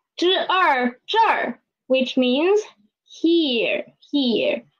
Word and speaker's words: 这儿: So we can see here is this plus a er, zhe plus a er, and there is na plus a er, that plus a er, nar.